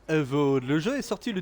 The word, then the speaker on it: Avowed: Je crois que ça se prononce Avowed.